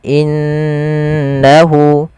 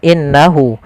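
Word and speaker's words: إِنَّهُ: kemudian innahu huwat tawwaburahimfal innahu ada gunah yaitu ditandai dengan adanya Nun berharakat tasdid dan di sini diwarnai dengan warna hijau cara membacanya Jangan langsung innahu tapi ditahan dulu gunahnya dimasukkan ke rongga hidung kita in innahu innahuah seperti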